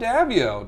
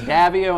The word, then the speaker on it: Daviau: I'm sitting here right now with Rob Daviau. Nope, I said it wrong. It was really close. It was Daviau and it's Daviau, but we'll let it go.